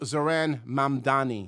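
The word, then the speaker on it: Zohran Mamdani: It's pronounced Zaran Mandani.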